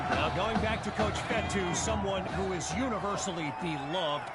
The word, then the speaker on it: Fetu: So Coach Fetu spelled F-E-T-U for the longest time. I was pronouncing it Coach Feta, like feta cheese.